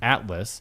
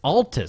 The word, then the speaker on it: Altus: to say it wrong, but it's Atlas. Altus. It's Altus. See, I did it. I said it wrong.